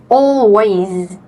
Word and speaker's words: always: And always. Always. Yes. Remember all you have um you have the word L in the middle, right? So all yes and ways the S at the